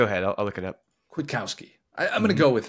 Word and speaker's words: Kwiatkowski: I think the K is pronounced. I looked it up so many times, Will, so many times, and sometimes I felt like I'd hear the K, and then sometimes I wouldn't.